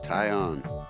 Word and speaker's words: Taillon: Taillon.